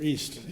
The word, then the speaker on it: EEST: Our first group is, as you can see, it's a large group of presenters, and it's EEST, E-E-S-T, and they'll tell you what this is, or EAST, as they pronounce it.